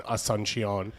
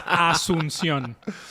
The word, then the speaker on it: Asunción: Did I say it wrong? Yes. Say it. Asunción. I was close. I thought you were pretty close. There's no an H there. Asunción. No. It's Asunción.